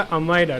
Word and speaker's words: अमायरा: अच्छा, तुम्हारा जो प्रोनाउंसिएशन है नेम का अमायरा, राइट? अमायरा, अमायरा ज्योति, यस अमायरा, ओके।